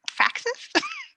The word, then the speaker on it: praxis: Is it praxis?